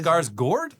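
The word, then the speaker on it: Skarsgård: It's pronounced Scars Gourd. I've never heard it pronounced that way. Anyway, Scarsgour.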